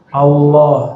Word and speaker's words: Allah: Jadi cara baca Allah ini bukan Allah. Allah. Jadi A tapi cenderung kepada U. A cenderung kepada U, bukan Allah. Tapi Allah. Bacanya A tapi lidahnya ngarah ke U.